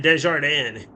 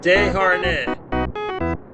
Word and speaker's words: Desharnais: I always botched it and said Desjardins. It's Desharnais, I think. Owen, help me out. Am I saying that right? Desharnais.